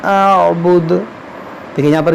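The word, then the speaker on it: أعبد: देखिए यहाँ मैंने क्या कहा, देखिए यहाँ पर भी बाज़ लोग गलत पढ़ते हैं। इसको पढ़ते हैं ला आबुदु मा तअबुदून, आइन को हज़फ कर देते हैं अक्सर लोग।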